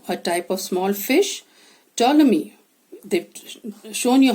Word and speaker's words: Ptolemy: type of small fish ptolemy they've shown you how to pronounce it the p silent newt a small animal